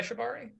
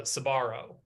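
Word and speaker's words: Sbarro: you guys sponsored by Shibari yeah who's sponsored by Shibari and rims okay we've been here we're in talks with Citgo but uh we'll see you guys are saying it wrong it's uh sabaro dude these calzones oh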